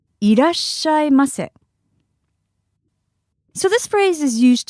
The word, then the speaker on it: いらっしゃいませ: Irashaimase. Irashaimase.